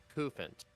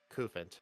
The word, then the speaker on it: Cufant: pronounce this thing, and it's a Cufant, like rhymes with elephant. Cufant.